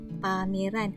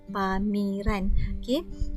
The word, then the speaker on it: pameran: Pola keselarasan vokal, contohnya ejaan pamiran. Pamiran, bukan kita sebut pameran. Jadi kita perlulah mengeja seperti mana yang kita sebut, iaitu pameran, bukan pamiran.